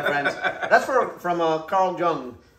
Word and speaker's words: Jung: that's for from uh carl jung or carl young i think they pronounce it carl young so he's a smart